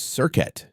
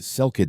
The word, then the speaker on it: Serket: Her name was Serket. You've heard it mispronounced a dozen ways in documentaries, Selket Serket, or just Scorpion Lady.